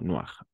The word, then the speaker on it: noir: Noir. Incluso al plural vamos a pronunciar noir. La S no se pronuncia.